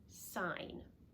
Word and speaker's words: sign: like in the word sign in both cases the G is silent but you can look